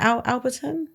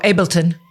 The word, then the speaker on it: Ableton: Is it Alberton? Is that what it's called? Oh, Ableton. Yeah. Yeah. I know I'd say it wrong.